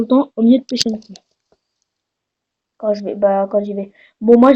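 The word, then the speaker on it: Pochinki: Mais moi, je dis mieux comme ça.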